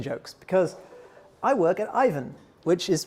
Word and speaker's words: Aiven: because I work at Ivan which is pronounced Ivan because it's a Finnish company and this is the